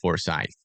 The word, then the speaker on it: Forsyth: Forsyth is pronounced. Okay, Forsyth.